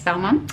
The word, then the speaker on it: Valmont: as well as Valmont, is that how you pronounce it? Yes, Valmont.